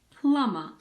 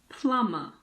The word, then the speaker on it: plumber: the B isn't there occasionally the B is silent after an m in the middle of a word for example in climber and plumber climber plumber when MB is in the